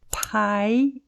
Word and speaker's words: pie: nós temos a palavra Pie em inglês que significa torta a palavra Pie em inglês se escreve desta forma mas foneticamente ela tem os mesmos sons da palavra pai em português então percebe a diferença